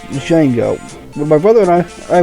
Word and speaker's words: Django: And that is pronounced Django. When my brother and I were kids, we thought it was pronounced Django though, but no, it's Django.